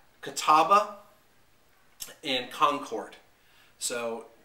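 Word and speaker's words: Catawba: to a website to to make sure I pronounce this right Kataba and Concord so Kataba yeah Niagara Kataba and Concord the three grips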